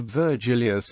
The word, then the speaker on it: Virgili: This shortening does not shift the accent, so the vocative of Virgilius is Virgili, with accent on the first I, even though it is short.